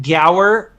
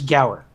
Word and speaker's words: Guar: Yeah, it's some people pronounce it Gower, but a lot of people just say Guar or Gar or something like that. So however you want to pronounce it, you feel free. So technically, I believe it's Gower.